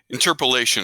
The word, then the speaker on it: interpolation: this thing travis g zero one that's right interpolation is how that's pronounced but you were close all right so